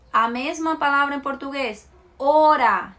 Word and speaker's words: hora: Hora, se escreve com H, mas não tem som. Hora, seria H-O-R-A, né? Hora.